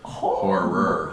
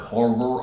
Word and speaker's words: horror: awesome art of horror always got to hit that last syllable horror horror I you know do